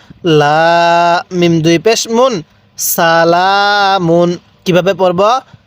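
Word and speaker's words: سَلَامٌ: লাম খারা জবর লাম মিম দুই পেশ মুন সালামুন কিভাবে পড়বো সালামুন হ্যাঁ আরেকবার পড়ুন সালামুন হ্যাঁ পড়ুন সালামুন এরকম ভাবে এবার বলবেন এই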